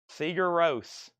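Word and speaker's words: Sigur Rós: seor Ross oh my say that one again Paul Seager Roose uh those will never stick with me I'm sorry we're just gonna have to get over those seagar Ro and Bonnie ver Bon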